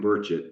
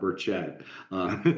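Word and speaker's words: Burchett: this straight every time it's Tim burett not burett so I just want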